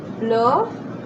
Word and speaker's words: bleu: Bleu, which is blue, B-L-E-U.